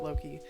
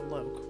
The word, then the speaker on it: Loki: But I'm used to like Loki, but then in English I could see that being pronounced as Loke, which no.